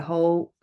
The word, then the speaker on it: who: Also, as I mentioned before with W, there was the whole with an H. If it's A-E-I-Y, we pronounce the W. The W. If it's followed by an O, we pronounce the H.